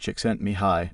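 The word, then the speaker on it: Csikszentmihalyi: According to the Hungarian American psychologist Mihi C6 and Mahili pronounced chickent mihi, the biggest difference between climbing and say football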